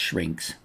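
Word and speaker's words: Syrinx: I think it's pronounced shrinks.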